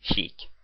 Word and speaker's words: Sheik: Yes, I finally know how his name is pronounced. Sheik.